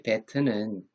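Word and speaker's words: ב: 그리고 영어의 비 발음 음가를 가지고 있어요. 우리나라로 생각하면은 비읍이라고 생각하시면 되겠습니다.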